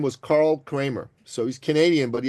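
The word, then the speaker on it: Kremer: there was this man his name was Carl Kramer so he's Canadian but he had a German name right Carl with a k k a r l Kramer k r e m e r Kramer German uh pronunciation right and he was a very successful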